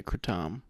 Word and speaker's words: kratom: is it katum or cram uh there's several ways you can pronounce it I believe I think in Asia they say ketam but we are in America so we're going to say katum yeah just sayum so